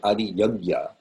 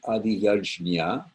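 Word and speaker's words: अधियज्ञ: little twirl on it, turns into a harder G-ish sound. So it sounds more like gya.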